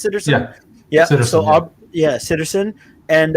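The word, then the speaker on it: Sitterson: name is aubrey citizen is that how it's pronounced citizen yeah so yeah citizen and um was it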